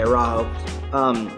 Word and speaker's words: Araujo: I think Araujo is how you pronounce it. Okay, Araujo.